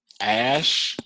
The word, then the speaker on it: Ashe: I guess her name is Ash, like because it's spelled Ashe.